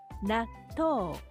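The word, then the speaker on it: なっとう: 나토. 조금 뒤의 글자가 토니 토의 자음 티와 같이 발음이 되겠죠.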